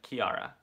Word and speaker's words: Chiara: nope just book shopping the CH in Chiara is pronounced like a k Italian origin okay very interesting I'd love to know your thoughts so be like Kiara right Kiara love to know your